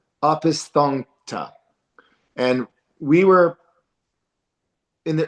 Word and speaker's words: Opisthokonta: It's spelled Opisthokonta, so it's Opisthonkta, and we were in the early part of terrestrial Earth.